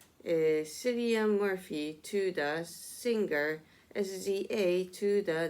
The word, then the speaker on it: SZA: Her name is pronounced SZA, according to the なるほど、experts at Babel, and the first name of the Irish actor Cillian Murphy is pronounced Kilean.